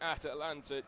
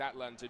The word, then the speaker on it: Atlanta: And we are back underway for the second half here in Atalanta, Georgia. I should say it's Atlanta, Georgia, not Atalanta. Poor pronunciation from myself there, but I'll run you through the teams of Spain.